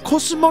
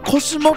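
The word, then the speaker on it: 小宇宙: コスモってと海底コスモって読むのを知ってた小宇宙と書いてコスモてよほどよ王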